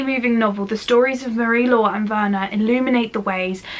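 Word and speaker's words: Marie-Laure: For Marie Law, I believe that's how you pronounce it.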